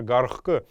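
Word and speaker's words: гархх: Или, например, гархк, это выводить, выпускать кого-то, воспроизводить что-то, производить что-то. Гархк мы тоже пишем гх, но произносим как, последнюю х произносим как к, гархк.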